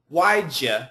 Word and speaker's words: why'd you: tough one again so this pronunciation is waja and we can actually cancel the H2 so why'd you have to